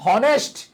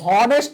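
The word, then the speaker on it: honest: না আমরা কি বলি এখানে আমরা এইচ এর উচ্চারণ হও ইউজ করি না দ্যাট মিন্স এন আবার আমরা কি বলি হনেস্ট হি ইজ অনেস্ট ম্যান বলি নাকি অনেস্ট ম্যান বলি কি বলি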